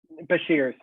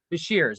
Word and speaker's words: Beshears: name because of ours beshears beshears but shares we have kyle bashers with us and you